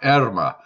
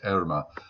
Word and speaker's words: Irma: at guess what we're looking at irma well erima which is actually the way it should be pronounced and i've been pronouncing it out Irma